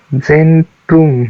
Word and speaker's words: Zentrum: कैसे पढ़ते हैं जर्मन में? Zentrum. इसका प्रोनाउंसिएशन जेंट्रुम है.